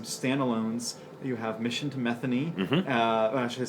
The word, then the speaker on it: Methany: Mission, or Methany. Methany. And thank you for pronouncing it correctly too. A lot of people don't get Methany right. They give it the wrong pronunciation. I've even had people call it Mission to Methadone, which it is not.